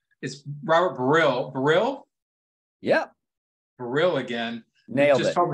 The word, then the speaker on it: Baril: Yeah, I think originally the pronunciation was Baril, because you don't pronounce the L without the E at the end of it.